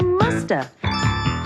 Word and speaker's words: must have: mean must have been we can say in conversation and sometimes we don't pronounce the v and so you hear musta she must have been